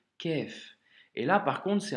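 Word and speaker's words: ك: Donc, quand tu vois ce symbole, c'est la lettre kef, tu vois, c'est un son aminci, léger, kef.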